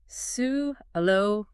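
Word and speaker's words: salubrious: Then there is cubrious pronounced sulrius. Clear articulation of all four syllables ensures fluency here.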